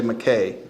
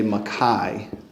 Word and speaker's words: Mackay: In English, we say Mackay. Well, in American English. In British English, you say Mackay. But you say that because you're pronouncing his name with Luganda vowels. So in American English, it'd be Mackay.